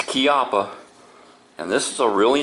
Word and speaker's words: Chiappa: is made in Italy and yes it is pronounced kppa um I hear a lot of people saying chiaa but no it's kppa and this is a really nice holster I